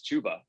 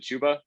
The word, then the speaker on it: Chuba: For the record, I think it's Chuba, right? I know there's 2 B's, but I've heard people pronounce it Chuba. Yeah, Chuba Hubbard. Chubba Hubbard sounds way cooler, in my opinion. It rhymes like Chub Hub. Yeah, right. I think, if it was up to us, I would prefer Chubba, but I believe it is Chuba.